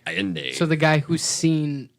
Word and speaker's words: Allende: And how do you pronounce his last name? Allende.